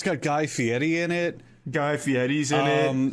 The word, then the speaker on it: Fieri: Yeah, and it's got Guy Fieri in it.